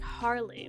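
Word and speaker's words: Halley: brother gains aha there's Halle the youngsters adore their new Guardian good dog best friend and boys typically pronouncing the name though sounds more like Harley when he says it 13 years later the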